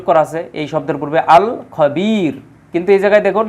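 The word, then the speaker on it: الخبير: আছে এই শব্দের পূর্বে আল খবির কিন্তু এই জায়গায় দেখুন এই খ এটা হচ্ছে কমারিয়াত এজন্য আলিফ লামের উচ্চারণ হয়েছে হ্যাঁ আল খবির যাই হোক তাহলে আমরা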